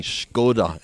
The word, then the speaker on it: Skoda: I presume slightly tongue-in-cheek, correct, saying that we were pronouncing Skoda incorrectly. So Skoda.